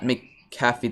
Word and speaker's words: McAfee: Pat McAfee, that's how you say it.